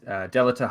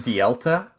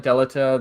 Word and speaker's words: Delita: My brother used to call him Dielta. And it fucked with my head a lot because I'm like, it's spelled Delita. That's not right, man.